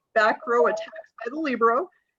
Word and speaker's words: libero: Tonight's presenters, we're going to be learning about back row attacks by the libero. Or libero or LeBron, as we realized, is also an alternate pronunciation for some.